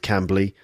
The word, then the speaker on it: Cambly: Cambly, that's spelled C-A-M-B-L-Y, Cambly.